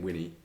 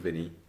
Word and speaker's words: Vinny: Kept calling him Winnie when it's called Vinny.